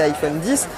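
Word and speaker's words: iPhone X: autre nouveauté de cet iphone icsa prononcent et iphone 10 c'est ce double capteur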